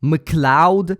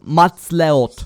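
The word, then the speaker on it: MacLeod: By the way, did you know that his name is pronounced that way? Mloud. I'm Kevin Mloud. I always thought it was Matleot.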